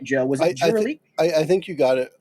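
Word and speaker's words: Kurelik: Yeah. Jurlic. Jurlic. K-U-R-E-L-I-K. Yeah. Yeah. It's the first time we've said it out loud. So that's how it's pronounced.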